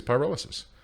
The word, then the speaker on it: pyrolysis: to be pronounced as what is it pyrolysis it is pyrolysis and we don't need